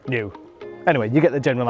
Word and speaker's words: NIU: to the new new because there is new pronounced new anyway you get the